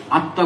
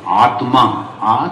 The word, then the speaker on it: আত্মা: খুব ভালো প্রশ্ন, কিন্তু কথাটা কি জানো, আত্মা যখন শব্দটা উচ্চারণ যদি করবে, আত্মা বলো না, আত্মা, তয়মায় আকার, হ্যাঁ, তো আত্মা পরমাত্মার সঙ্গে যদি মিলে গেল তাহলে তো সমস্যা শেষ হয়ে গেল।